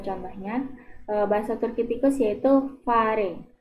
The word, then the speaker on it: fare: Jadi dalam bahasa Turkinya tikus, ya sebagai contohnya, bahasa Turki tikus yaitu fare. Fare, ya, jadi pengucapannya sama, kurang lebih seperti kita mengucapkan kata nafas.